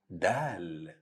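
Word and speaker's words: دال: alphabet is letter Dal Dal Dal now you can guess the pronunciation of Dal a same sound of the in English or letter D like in the word Dad it's easy to pronounce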